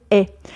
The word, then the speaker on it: ait: est avec elle elle est donc ça se prononce comme un e ouvert elle est voilà mes chers apprenants